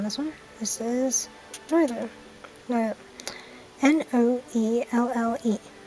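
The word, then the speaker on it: Noelle: N-O-E-L-L-E. Noel. I guess I'll just pronounce it like that for English.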